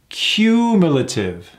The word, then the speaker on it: cumulative: Let's break that down into syllables. Cumulative. A lot of is in there, right? And where's the emphasis? On that first ooh. Cumulative.